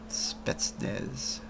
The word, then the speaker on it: Spetsnaz: You know, I could usually pronounce that properly. Spetsnaz.